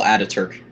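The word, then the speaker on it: Atatürk: I don't know how to pronounce that fucking name. It looks like Mustafa Kemal something. Mustafa Kemal Ataturk.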